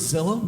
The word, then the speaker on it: Zillow: Are you guys familiar with Zillow? Begins with a Z rhymes with pillow.